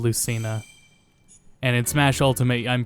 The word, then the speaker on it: Lucina: Her name is pronounced Lucina instead of Lucina.